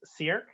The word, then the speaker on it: Sierk: Next up is Sierk. Did I come close? Sure, you did a great job. You kept it to one syllable, so that's fantastic.